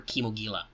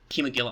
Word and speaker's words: Kimogila: guys, I mean, like, chemo's not that hard with the I, and then it's Gila, like a Gila monster.